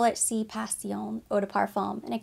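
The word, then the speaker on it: Sì Passione: indulge me this is Si Pasion they called it si pacione whenever I was in store I'm sure I'm mispronouncing it it's from Armani Beauty in my head I call it C pacion eau de parfum and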